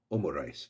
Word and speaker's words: Omurice: known as wasaigo omo omo is the short form for omelette and risu for rice. So omo rice it is simply an